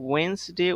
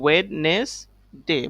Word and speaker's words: Wednesday: ওয়েন্সডে, ওয়েন্সডে উচ্চারণে হবে ওয়েন্সডে, but pronunciation আমরা দেখতে পাচ্ছি এখানে WEDNESDAY। সো আমরা এখানে দেখতে পাচ্ছি ওয়েডনেসডে, বাট আমরা প্রোনাউন্সিয়েশন করব ওয়েন্সডে, because this D is silent here.